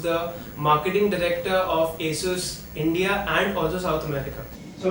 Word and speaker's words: ASUS: Marshall Campos who's the marketing the vector of Asus India and causes automatically so my first question